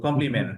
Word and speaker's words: complement: ওকে, একটা উচ্চারণ আমরা শিখলাম যে এরকম শেষে যদি টি বা ডি থাকে, এর আগে এন থাকে, তাহলে আমরা এই টি ডি বাদ দিয়ে দিব, উচ্চারণ করবো না।